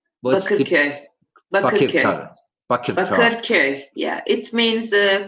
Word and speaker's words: Bakırköy: Aslı, how do you pronounce this? Bakırköy. Bakırköy.